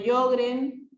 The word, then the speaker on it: Sjögren: Presentan algo de Sjögren y algo de esclerodermia.